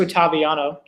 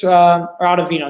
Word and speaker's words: Ottavino: they're going right to Ottaviano, who they trust. Maybe that's Ottavino, that's how you pronounce his name.